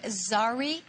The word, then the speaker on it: Zari: And am I pronouncing this correctly? Zari fabric? Yes. Zari fabric.